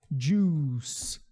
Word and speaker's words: juice: Juice. Juice. É como se for aqui, ó. É mais ou menos assim, ó. Juice. Esse CE tem um som de S.